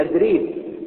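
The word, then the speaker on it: أتريب: اللي هي بنها في اتريب اتريب اتريب جنب اخميم جنب دير البش الدير الابيض وهناك النطق الصعيدي الت ينطقها د ما يقولش شنوتي يقولوا شنوده ما يقولوش اتريد يقولوا ادريد ولذلك اللحن حتى الان في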